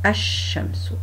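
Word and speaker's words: الشمس: Donc, en fait, ici, dans les lettres solaires, on ne prononce pas le lem et on insiste sur la première lettre du mot. Donc, on dit ash-shamsu, ash-shamsu.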